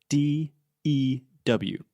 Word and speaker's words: dew: make a question do but we spell it d e w like Mountain Dew okay yeah but how do I say that oh there is a lot of dew there is do it's